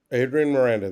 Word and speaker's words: Adrian Miranda: pronounce it it's Adrian Miranda. Yeah. Adrian Miranda.